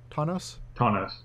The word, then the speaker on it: Tawnos: Tawnos.